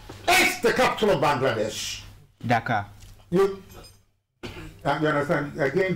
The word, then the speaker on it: Dhaka: Dhaka. Dhaka. You understand? I think there is, a chasm between the two pronunciations. The first one, which has to do with Senegal, is Dakar. This Dhaka.